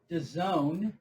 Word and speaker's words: DAZN: That's why everyone was so mad when fucking Dazin opened up with moving Canelo's fight. Hey, how did that work for Dazin? Matter of fact, where the fuck's Dazin at right now? Well, DAZN, which is the proper pronunciation.